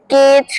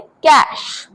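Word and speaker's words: cache: So next one इज़ सी ए सी एच ई जिसे बहुत सारे लोग बोलते हैं केच केचे बट इसे सही तरीके से बोलते हैं कैश।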